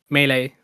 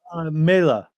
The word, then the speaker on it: Meile: Is it pronounced Meile or Melee? Meile. Yeah, it's an Estonian word that means for us.